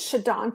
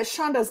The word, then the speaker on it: Shadan: Washington State and uh my name is shadon I know it's gone yes and I never get mad when people say it wrong because I I just figured most of the time they will so but no I I shonda's nice too you can call me either one I'm going to call you